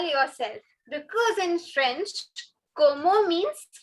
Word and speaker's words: comment: So this comment word is not comment. It is como.